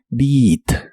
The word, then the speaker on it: beat: de inglés es Beat la e a de esta palabra se pronuncia como una I larga o doble Beat Beat en el presente